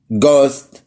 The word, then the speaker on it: ghost: لا، حرف الاتش ممكن ما يتنطقش لو جاي بعديه حرف الاو. زي ايه؟ تعالى اوريلك زي ايه. honest, ghost, our. هتلاقي هنا حرف الاتش ما اتنطقش عشان حرف الاو جاي بعديه.